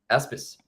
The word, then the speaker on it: Aspis: here so the next the next project is aspace am I right am I pronouncing in right aspis yeah yeah so uh the name of the